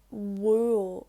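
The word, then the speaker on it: bhuail: then from bull to wool when there's a h added after the b when b h is followed by a broad vowel such as u a or o it's pronounced like a w so i just gave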